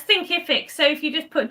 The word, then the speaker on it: Thinkific: So how do you pronounce it? So it's Thinkific.